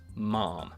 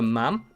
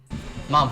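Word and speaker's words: ma'am: Mom. Yes, there's multiple ways to pronounce that. Supposedly, the correct way is to rhyme with jam. So, mom. Mom.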